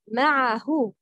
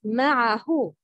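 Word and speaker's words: معه: Fatha of letter ayn should be pronounced clearly. Example, ma'ahu. The right pronouncing is ma'ahu.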